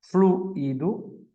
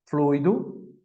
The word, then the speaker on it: fluido: Fluido, fluido, não é fluido, porque não tem acento, é fluido.